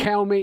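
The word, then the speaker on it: Kelme: We've got Watford, Calmy. Is it pronounced Calmy? Calmy, yeah.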